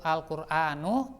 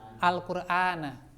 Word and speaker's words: al-Qur'ana: Jadi tadi tidak dibaca ana darastu al-Qur'anu, tapi yang benar ana darastu al-Qur'ana. Ya.